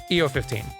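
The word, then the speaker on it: Iofi: EO15, that's how you say it.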